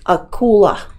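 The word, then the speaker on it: акула: Serbian but that's how they call them in Russian it's a cooler and it's kind of written like that Akula so that's a shark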